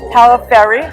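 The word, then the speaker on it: Pagliaferri: All right, now I'm here with Robin Palaferri, the G is silent, who is the president of this association.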